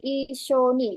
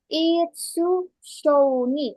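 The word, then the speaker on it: いっしょに: Kalau saya buat su besar, kan sama ini semua. Berarti kalau besar, kalau misalnya saya pakai ini, su besar, maka dibacanya Itsu Shoni. Oh, udah beda lagi. Udah nggak ada artinya itu. Itsu Shoni, nggak ada artinya. Tapi saya buat yang kecil, jadinya Ishoni.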